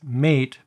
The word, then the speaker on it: MATE: And yes, I do understand, for those of you that aren't already aware, that it's spelled as mate, but it's pronounced as mate.